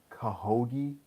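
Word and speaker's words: Khashoggi: Saudi Arabia over Jamal kaha ghee that's how you pronounce his name wish they could have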